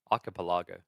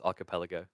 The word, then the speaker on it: archipelago: thrive in I feel wait you say it like I used to archipelago it's not just me I learned a long time ago it's archipelago chat wouldn't let me get